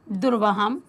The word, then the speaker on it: दुर्वहम: म इसके साथ जुड़ जाएगा क्योंकि मा के पीछे भी छोटे आ का उच्चारण है क्योंकि म में हलंत नहीं दिया गया है। तो यहां से दो पद बनते हैं और वह बनता है दुर्वहम धन अत्र।